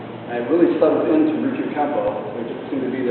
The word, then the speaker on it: Ryukyu Kempo: How do you pronounce it again? Ryukyu Kempo.